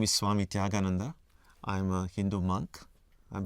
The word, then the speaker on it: Tyagananda: My name is Swami Tyagananda. It's quite a mouthful for many people in the West to pronounce my name.